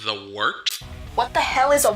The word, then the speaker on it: Wørt: It's pronounced the Wørt. What is it? The wort? Yeah, okay, I'll do that again. This is The Wørt on Govs Radio. It is the Wørt. Not warts, not forts, not short.